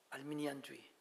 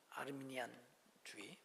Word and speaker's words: 아르미니안주의: 칼빈주의, 예정론, 그 다음에 알미니안주의. 알미니안이라고 그러는 게 아니라 발음은 아르미니, 알 발음이니까 아르미니안 발음주의라고 해야 되는데 책에 따라 알미니안, 엘 발음은 아니거든요. 알 발음이지. 이렇게 되어 있습니다. 아르미니안주의.